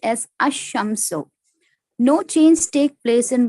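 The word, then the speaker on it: الشمس: When AL is prefixed to a noun beginning with solar letter, the L of the AL is assimilated to the solar letter. Example, Al-Shams, the sun, is pronounced as Ash-Shamsu.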